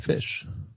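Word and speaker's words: ghoti: G h o ti. How's that fish? Yeah. Well, you do the gh as in enough.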